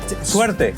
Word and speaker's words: suerte: You have suerte, which lots of people, I'm probably pronouncing that badly. You kind of are, but it's okay. I don't blame you for it. Suerte.